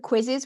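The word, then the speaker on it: Quizizz: And then in terms of quizzes, we mentioned Kahoot already. Kahoot's great, but there's also Quizzes, which is spelled with 2 Z's on the end. Quiz is like quizzes.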